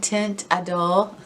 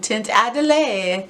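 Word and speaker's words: Teint Idole: But I think my favorite is the Lancome Tint Adole. I used to call it the Lancome Tint Adelaide, and I would get like hate every single week, like, why can't you pronounce that makeup?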